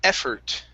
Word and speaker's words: effort: The word is effort. Make sure to pronounce that T.